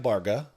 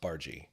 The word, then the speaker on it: Barga: uh the last name looks like barga looks like bar but it's pronounced bargie and all I can